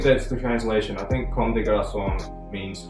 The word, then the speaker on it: Comme des Garçons: I think it is Comme des Garçons. It's French. It's a Japanese brand, but it's French.